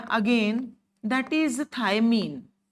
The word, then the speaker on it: thymine: Base हमें पता है, जेनेटिक्स बहुत पढ़ी हमने, बेस हमें पता ही है, adenine, guanine, cytosine, थायमिन, uracil, वो बेसिस होते हैं।